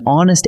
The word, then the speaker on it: honest: But an hour and an honest answer take an, even though they start with the letter H, because that H is silent.